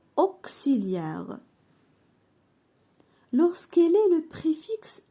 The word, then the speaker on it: auxiliaire: La lettre X se prononce كس si. Lorsqu'elle est à l'intérieur d'un mot يعني أنه يكون في وسط الكلمة. Exemple auxiliaire. هنا نطقنا X كس auxiliaire.